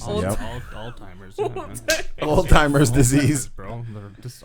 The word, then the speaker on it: Alzheimer's: this one hue does all the time alzheimer's old-timers alzheimer's alzheimer's disease bro they're just all timing and then apparently people pronounce australia as australia what